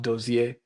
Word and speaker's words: Dozie: So my name Dozie is actually pronounced Dozie.